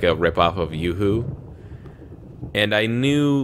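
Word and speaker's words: Yoo-hoo: pointed out to like no it's not a Yahoo it's a yooo see how it says yo or uh yeah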